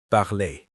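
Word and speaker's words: parlez: So for the same verb barlay you say vu blay. P a r l e z. The spelling and pronunciation are different.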